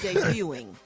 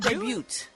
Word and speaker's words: debut: The T is silent, Gary. It's debuting. Really? It's not debuted.